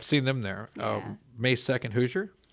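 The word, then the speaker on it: Hozier: May 2nd, Hoosier. Hosier. Is that? Yes. That's not how it's said, is it? Yes, it is. Is it really?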